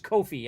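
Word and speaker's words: Ko-fi: show some love over there I think it's Kofi actually is how you say it uh that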